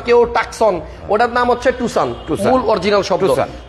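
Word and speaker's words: Tucson: টাকসন গাড়িতে দেখেন কেউ বলে টুসান, কেউ বলে টুকসান, কেউ টাকসন, ওটার নাম হচ্ছে টুসান, মূল অরিজিনাল শব্দ।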